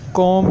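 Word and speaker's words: comb: जाता है चेयर कि कंगी को इंग्लिश में कौन कहते हैं यहां पर बीच साइलेंट है इसलिए आपने भी की अदायगी नहीं करनी और कौन-कौन है एक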